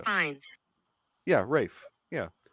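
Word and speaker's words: Ralph: Rafe Fiennes. Yeah, Rafe. Yeah. It's Rafe Fiennes. Fine. Rafe Fiennes. Rafe. Good grief.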